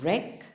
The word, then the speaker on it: wreck: there okay so b the words wreck and holy now there we don't pronounce the w isn't it so they